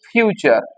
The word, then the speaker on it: future: ফিউচার এফ ইউটি ইউ আরই উচ্চারণটা কিন্তু ফুটুরেলয় উচ্চারণ হচ্ছে ফিউচার এই ফিউচারের ক্ষেত্রে কি হয় শুধুমাত্র মোডাল ভার্ব